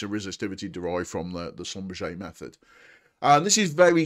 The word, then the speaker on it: Schlumberger: Now, the second method, I did say there was two methods in there, and we have the Schlumberger, or sometimes Schlumberger, but Schlumberger, I believe, is the correct pronunciation, method.